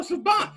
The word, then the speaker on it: Siobhan: No, Siobhan.